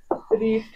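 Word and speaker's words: read: being newspaper is being রিড আচ্ছা রিডের third form কি হবে বলছো রিডের থার্ড ফর্ম রিড হয় না রেড উচ্চারণ হবে রেড যদিও বানানটা একই থাকে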